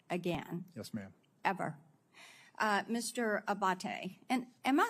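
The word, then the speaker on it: Abbate: Abate, and am I saying your name properly? We've heard it pronounced 3 different ways today in the hearing. Abate, Senator. Abate.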